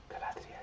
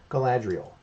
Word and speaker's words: Galadriel: Galadriel. You can't say it like normally. Galadriel, you know.